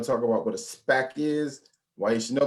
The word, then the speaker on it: SPAC: form of ipo that's called a spec and spack is spelled s p a s p a c um spec s p a c